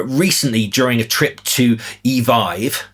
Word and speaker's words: Evive: We spoke to a driver recently during a trip to Evive, yes, that's apparently how you pronounce it, who was unable to